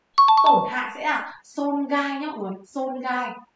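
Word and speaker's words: 損害: Tổn hại sẽ là xôn gai nhá mọi người, xôn gai.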